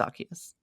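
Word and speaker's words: Arceus: didn't we we weren't sure if it was Aus or arus it's arus I I tend to agree with you but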